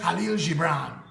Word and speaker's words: Khalil Gibran: I have an uncle who say it's pronounced Halil Gibran.